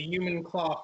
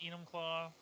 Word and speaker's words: Enumclaw: Netflix special on the human claw forced Mr hands Mr hands what that might have been done yeah I mean first of all it's pronounced Enumclaw um I used to